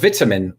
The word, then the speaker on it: vitamin: But vitamin is how I learned to say it over time.